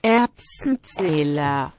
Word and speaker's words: Erbsenzähler: C'était le même mot, mais prononcé doucement, si tu veux, vas-y. Allez, Erbsenzähler.